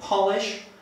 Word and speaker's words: polish: Jeżeli chcemy coś wypolerować, będziemy wymawiać to słówko z literą O, czyli polish.